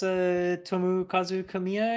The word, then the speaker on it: Tomokazu Kamiya: Yeah, that's Tomokazu Kamiya, I think. Yes. Unless I'm mispronouncing his name.